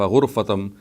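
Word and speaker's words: غُرفة: الحروف إلا من اغترف غرفة بضم الغين, which would mean إلا من اغترف غرفة بضم الغين, which means that the way I have pronounced it with the zamma on ghain.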